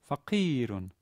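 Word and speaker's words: فقيرٌ: syllable is long right fakirun note that the e there is a long e and hence it's not f factor but stress on the penultimate syllable when the pronunciate syllable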